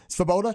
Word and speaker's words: Svoboda: Did I get it right? Svoboda. The V is silent.